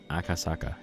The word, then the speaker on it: Akasaka: Did I say his name right? Akasaka. Yeah, I guess I did. A lot of A's in there.